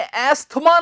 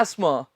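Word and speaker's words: asthma: देते हैं थमा जी एक बात याद रखना अपने अस्थमा नहीं होता है यह इसका सही उच्चारण है एस वाइड एस मा बिल्कुल सही है MS Word ना के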